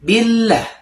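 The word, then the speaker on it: بالله: Nah, pada huruf lamnya pada lafaz Allah itu lamnya ditahan ya 2 detik karena di sini ada tasdidnya. Jadi dibacanya billah.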